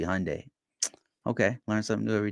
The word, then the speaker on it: Hyundai: at me because I I pronounced Hyundai wrong because I said Hyundai it's supposed to be Hyundai okay learn something new